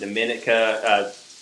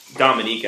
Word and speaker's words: Dominica: Starting in the Bahamas, we went down to the Dominica, Dominica, actually, pronounced.